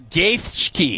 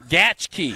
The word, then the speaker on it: Gaethje: Justin Gaethje. Nope. Gaethje.